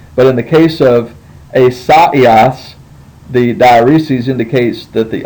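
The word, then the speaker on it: Ἠσαΐας: So you have to break it up. So the way you say this is not asaios, it's asaios. Esaias.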